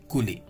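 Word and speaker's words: coulis: is you can see cool lee so the pronunciation is this not kuli is cooli okay a sweetened fruit puree used as sauce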